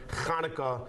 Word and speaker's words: Hanukkah: But phonetically in the English vernacular, Hanukkah is just like Chaim and Chabad. We take the Ch sound from the Hebrew Chet, and we make it into a CH.